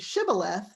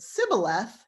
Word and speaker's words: Shibboleth: If he pronounces it Shibboleth, they let him pass. But if he pronounces it Sibboleth, they know he's an Ephraimite trying to sneak across, and they kill him.